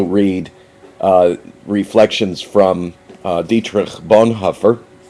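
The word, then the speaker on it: Bonhoeffer: uh Reflections from dietr Bon Huffer or Bon heffer as it's more correctly pronounced this is a compendium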